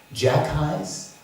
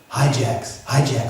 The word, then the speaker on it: hijacks: a devotee, he said, how do you say that? Jack highs? And the person said, hijacks, Prabhupada, hijacks.